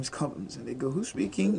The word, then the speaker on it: Cobhams: Cobhams It's pronounced Cobhams because most people have just